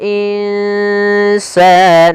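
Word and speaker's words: الْإِنسَانَ: Bagaimana cara membacanya? Kita samarkan nunnya ke huruf sin. Insa dan itu ikhfanya ikhfa tipis. Insana.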